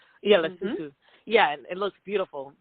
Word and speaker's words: Lesotho: Am I pronouncing it correctly? Lesotho. Yeah, Lesotho.